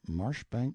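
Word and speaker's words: Marjoribanks: Honorable Kirk cudbright Lanover Marjorie Banks sellers Viscount Berkeley of Charles mundely Castle Warwickshire pronounced kacubri slanover Marsh Bank sellers VI count Barkley of Chumley Castle Yorkshire he is standing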